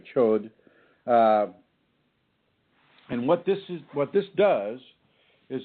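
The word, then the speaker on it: gcod: That's spelled C-H-O with an umlaut and D. So the chud or chod.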